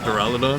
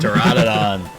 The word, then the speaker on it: Duraludon: I always loved Duraludon? Duraludon. That's why you're here. You correct my mispronunciations.